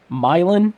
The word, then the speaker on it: Milan: college who used to he was from milin Indiana if I remember correctly okay and he grew up it's spelled like Milan but he grew up